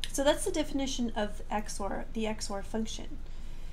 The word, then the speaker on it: XOR: This is pronounced Xor, and it's short for exclusive OR.